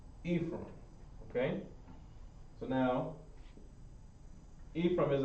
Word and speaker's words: Ephraim: number six is ephraim ephraim and no it's not spelled necessarily how it sounds ephraim okay so now ephraim